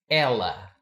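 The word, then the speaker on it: ela: it's pronounced ill but the word she is Ella once again he ill she Ella so ill almost sounds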